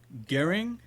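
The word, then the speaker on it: Göring: in the newspaper that gearing what what is this name arun prabhu hitler's air general g o e g-o-e-r-i-n-g yeah you said it right okay hitler's heir general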